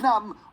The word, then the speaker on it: numb: A dumb B is a silent B, and dumb, thumb, and numb all have silent Bs in them.